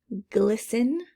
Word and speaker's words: glisten: don't hear the w glisten glisten it means kind of to sparkle glisten i don't hear that t silent d door knob